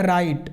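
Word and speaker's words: write: W silent रहेगा, पढ़ा जाएगा राइट, र है ना, आप आई आ गया तो रा ई ट, राइट।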